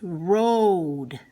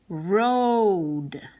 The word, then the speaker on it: road: Goat oh oh oh that's the Oh a saying Oh like in billy goat in coat and in this case road they're always saying the O sound because it has a second vowel well that says nothing road as opposed to